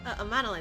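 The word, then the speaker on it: Emmanellain: Amanalaine, that's how you pronounce it.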